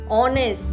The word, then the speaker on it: honest: Example: are and honest. They both are starting with H, but H is silent.